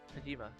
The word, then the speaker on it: Tajima: I'm here, Lord Tajimi no Kami. Tajima. I see what you mean, I did say his name differently.